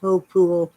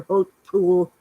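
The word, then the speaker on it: Hautpoul: chateau hill pool h-a-u-t-p-o-u-l it's french it's pronounced hope pool or hope pool doesn't have to make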